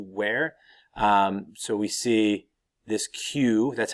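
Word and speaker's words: queue: the Chinese to wear so we see this Q that's how it's pronounced qu u UE is Q this would have been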